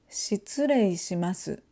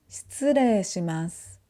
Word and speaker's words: 失礼します: So instead of saying 失礼します, we say 失礼します.